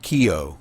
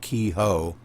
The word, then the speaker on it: Keogh: It's just pronounced Keogh, not Kehoe. Keogh. Yo. Yep. Just pretend the H is not in there. H is silent. It's Keogh. Like K-E-Y, Gotcha. K-E-Y-O. Keogh.